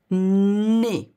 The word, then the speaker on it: nez: Un nez. Okay, you do not pronounce, the Z of nez.